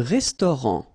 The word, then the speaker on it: restaurant: Un restaurant. Final T, not pronounced.